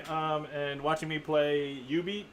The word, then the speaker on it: Jubeat: Um, and watching me play UB. It's pronounced UB even though it's spelled Jubet.